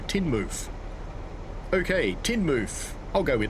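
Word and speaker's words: Teignmouth: It's pronounced tin mouth, but you say mouth as mofoof. So, Tinmouth.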